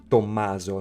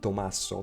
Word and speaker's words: Tommaso: Here, first, Tommaso is like his way to pronounce the Italian version of the name Thomas, which is Tommaso, non Tommaso, but that's okay.